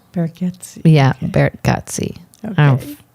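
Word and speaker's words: Gargatze: But I think it's Bargatze. Bargatze.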